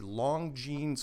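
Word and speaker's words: Longines: youtube and type in admiral byrd byrd the long jeans chronoscope and that's spelled l-o-n-g-i-n-e-s i believe chronoscope interview and that's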